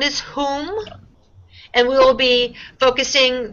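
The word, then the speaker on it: Hum: It's pronounced like H-O-O-M.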